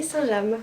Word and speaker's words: Saint-James: Saint-Jean alors j'ai dit Saint James toute ma vie et en fait on dit bien Saint-James puisque c'est le nom d'une ville en Normandie et ça se prononce ainsi voilà vous vous coucherez